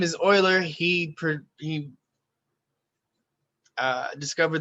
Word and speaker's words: Euler: guy's name is euler he oiler sorry see mispronounced again his name is euler he pre he uh discovered this sort of